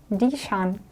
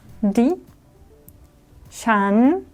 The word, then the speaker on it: ดิฉัน: То есть женщины будут говорить дишан. Так, как это пишется? Тоже вроде ничего сложного. Ди, уже краткое и. Краткое и, поэтому у нас низкий тон. Низкий же. Да. Ди. Шан. Шан. Здесь восходящий.